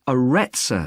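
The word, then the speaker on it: Arretsa: got a rather strange name it's called the aretza center that's spelled a double r e t s a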